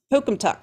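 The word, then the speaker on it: Pocumtuck: Pokumtuck.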